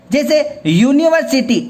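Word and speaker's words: university: दिया जिससे बॉईल बगैर तो यह लगा दिया यूनिवर्सिटी अब यहां पर मैं करता करता उच्चारण करता यूनिवर्सिटी फॉर एग्जांपल मैं आपको यह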